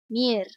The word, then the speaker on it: Mir: Mir, however you pronounce it. Mir, Russian Mir.